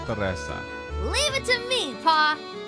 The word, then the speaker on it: Tressa: You're too clever for me, Tressa. Now off you go. He's saying it wrong. It's Tressa.